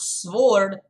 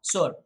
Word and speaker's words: sword: It's not sword. Spelling is with the W, but the W is just as silent as the spelling of right.